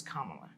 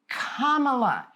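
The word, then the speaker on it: Kamala: Lotus really yeah and if you have a problem pronouncing it you know basically you just say comma and L add an L A so it's comma but I can tell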